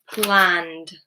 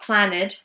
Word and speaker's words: planned: So the ending is duh, duh. Planned, planned, not plan-ed, planned. Make sure you're also not adding any extra syllables. Planned, because it ends in a voiced consonant.